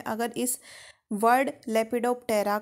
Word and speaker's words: Lepidoptera: जो order लेपिडोप्टेरा है, अगर इस वर्ड लेपिडोप्टेरा को हम ब्रेक डाउन करें तो ये वर्ड एक्चुअल में 2 वर्ड से मिलके बना है। एक तो है लेपिडो और दूसरा है टेरा। पी साइलेंट है।